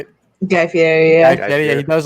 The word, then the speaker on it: Guy Fieri: Guy Fieri, yeah.